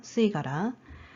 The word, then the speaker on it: 吸い殻: 이것도 수랑 카라랑 붙은 거잖아요. 그래서 이렇게 합쳐지면서 뒷단어의 첫 번째 글자가 타금으로 바뀐 겁니다. 발음의 편의상 그렇게 되는 거예요. 쓰이가라.